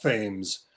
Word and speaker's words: Thames: Ontario was also pronounced Thames, which is how we pronounce the river in New London, Connecticut.